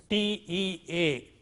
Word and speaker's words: tea: For instance, if you have a word like this, T-E-A, tea, initial one is aspirated here, T, not T, but T.